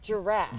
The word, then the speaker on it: giraffe: i think you need i think you just need to pronunciate the r a little bit like giraffe giraffe giraffe it sounds like draft oh my god if